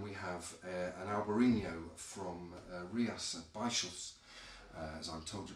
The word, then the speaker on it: Rías Baixas: And then we have an Albariño from Rías Baixas, as I'm told to pronounce it, from northwestern Spain up towards the Atlantic coast.